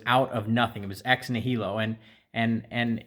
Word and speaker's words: ex nihilo: I might botch this but I believe it's pronounced ex nihilo and it means out of nothing and it's